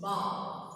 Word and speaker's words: bough: Bough means bough. Means could you see here? Bough means B-O-U-G-H. Bough. You should pronounce it as B-A-W.